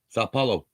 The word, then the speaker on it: São Paulo: sao paulo sao paulo it's not sand there's no n in it it's sao okay sao paulo okay i can't help